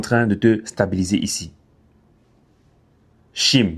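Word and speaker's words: Chime: Shim, je vais prononcer en français. C H I M E Shim.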